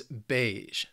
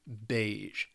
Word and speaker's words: beige: Then we have this color right here, which is beige. Just one syllable, very simple, very short, beige. And beige is shorthand for, I think, a variety of colors.